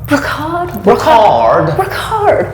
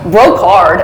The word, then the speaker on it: Brocarde: Brocarde, or Brocarde, as the Americans say.